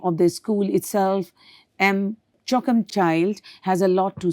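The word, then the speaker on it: M'Choakumchild: The name of the school itself, M. Choakumchild, has a lot to say. On pronunciation, it sounds like choking the child.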